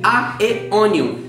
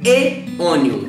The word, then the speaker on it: Aeonium: Eu imagino que, geralmente, você deve pronunciá-la como aeonium, que é do mesmo jeito que se escreve, não é mesmo?